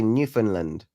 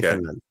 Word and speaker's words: Newfoundland: You say Newfoundland. You don't say, uh, instead of found, you're saying fun, basically. Okay. Newfoundland.